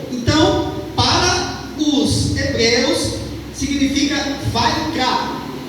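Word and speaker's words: ויקרא: Então, para os hebreus significa vai cá. A escrita aqui é diferente, a pronúncia aqui é essa que eu estou falando, vai cá.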